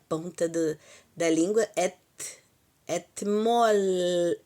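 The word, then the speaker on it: אתמול: Por favor, não use o o Tav com dental, articulação dental que nós usamos etmol, pelo menos na minha região, é et. Nós usamos dental etmol falaríamos assim o etmol, etmol. Atmol, não, atmol, porque o L a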